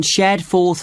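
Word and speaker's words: Shadforth: did you get the address of kangaroo Lodge yes it's on shared fourth line can you spell that s h a d f o r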